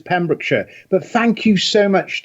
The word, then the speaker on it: Pembrokeshire: American host managed and yes you quite correct it is pemrick Shire but thank you so